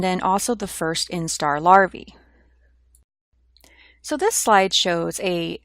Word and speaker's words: larvae: immature insect and the plural of that is pronounced larvae the pupa stage which is the intermediate or